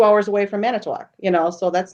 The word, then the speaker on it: Manitowoc: I call it Manitowoc. I don't put it in the third syllable. I don't put it in the third syllable. And Calumet. Manitowoc.